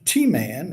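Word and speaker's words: Teman: God came from T-Man, and I'll argue that pronunciation to doomsday, that is correct.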